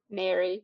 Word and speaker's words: Neri: Nary, like Nary.